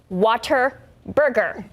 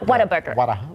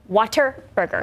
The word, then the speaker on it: Whataburger: So earlier this month, Whataburger tweeted that the correct way to pronounce it is, of course, Waterburger. Not Whataburger. It's Waterburger.